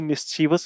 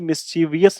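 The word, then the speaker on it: mischievous: के लिए क्या बोलोगे वी ओ यू एस बोलोगे वियस नहीं बोलोगे वस बोलोगे तो मिसवस यानी ऐसा शर शरारती बच्चा जो आपको अपने वश में कर ले तो क्या स्पेलिंग बनेगी मिसचीवस बनेगी मिसवियस नहीं बनेगी मिस मिस चीफ से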